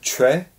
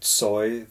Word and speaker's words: Choi: Yeah, the Koreans say Choi. Oh. So that's the Korean Choi, that's the Korean pronunciation. And then it kind of went into Choi and then later Tsoi, the way the Russians would pronounce it.